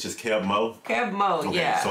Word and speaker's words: Keb' Mo': actually a new artist uh how do you pronounce it though kev mo it's just kev mo kev mo yeah so it's kev mo tyler